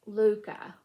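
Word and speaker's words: Lykke: And this is pronounced Luca.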